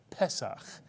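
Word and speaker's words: פסח: Words that begin with a segol tend to be accented on the first syllable, so the word is pronounced pesach, with the accent on the first syllable.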